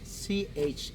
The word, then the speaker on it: Chan: And as a funny fact, one of the most common last names is Chan, Chan, like Jackie Chan.